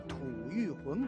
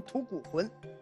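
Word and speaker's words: 吐谷浑: 注意没注意啊，叫吐谷浑国。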